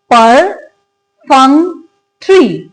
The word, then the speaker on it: perfunctory: इट्स perfunctory, यानी कि इसके अंदर हमारे पास कितने सिलेबल्स हैं? 4 सिलेबल्स हैं.